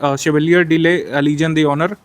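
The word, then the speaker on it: Chevalier de la Légion d'honneur: के द्वारा ये पुरस्कार शेवेलियर डी ले लीजन डी ऑनर, चूंकि ये फ्रांस का पुरस्कार है तो फ्रेंच भाषा में ऐसे इसको प्रोनाउंस किया जाता है।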